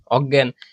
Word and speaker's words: অজ্ঞান: অ থাকলে আমি জানি উ হয়, কিন্তু এমন কিছু নেগেটিভ শব্দ আছে যেগুলার অ থাকলে অয়ে হয়, যেমন অজ্ঞাত, অজ্ঞান, এরপর হচ্ছে অদ্বিতীয়, ঠিক আছে?